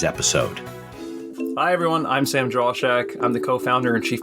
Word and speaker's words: Drauschak: Thanks Sam, for how do you having pronounce me. your last name? Drauschak.